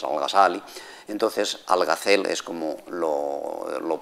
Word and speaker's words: Al-Ghazali: Perdón, pronuncio Al-Ghazal siguiendo la traducción de los latinos medievales en general, y como en las obras de Asín, y para el público español, pues Al-Ghazal es Al-Ghazali.